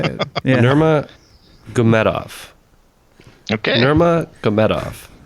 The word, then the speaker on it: Nurmagomedov: Nurmagomedov. Okay. Nurmagomedov, right? Nurmagomedov, yeah, that sounds right.